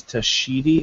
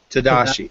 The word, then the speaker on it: Tadashi: I think his name is Tashidi. Is that correct? Did I say it right? Tashidi. Let me pop up the. I believe it's Tashidi. Tadashi. Tadashi Takeda. Yes, that's it.